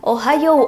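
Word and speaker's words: ohayō: sedikit disclaimer buat kalian penulisannya sendiri kan Ohayo ya Ohayo ada u-nya gitu di belakang Apakah bacanya seperti itu bukan jadi cara bacanya adalah Ohayo O nya panjang jadi fungsi huruf u di sini adalah untuk memanjangkan bunyi huruf o nya jadi jangan salah ucap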